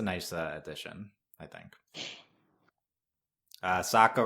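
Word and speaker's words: Sokka: addition I think uh Saka rhymes with AKA waka waka waka waka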